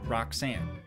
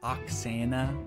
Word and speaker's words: Oxana: How long been with Roxanne? Everyone always kind of gets her name wrong. Her name's Oxana, O-X-A-N-A.